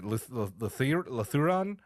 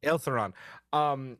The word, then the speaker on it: Ilthuran: One to rescue, and I'm going to butcher the pronunciation, Lithuran. Okay. Ilthuran. I put the L first. Ilthuran.